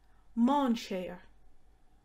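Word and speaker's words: mainséar: christmas decorations a nativity scene or a crib manchester fun fact that last word came from the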